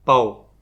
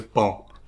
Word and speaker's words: pão: Portanto, a probabilidade de um romeno aprendendo português pedir pau na padaria é muito grande em vez de pão.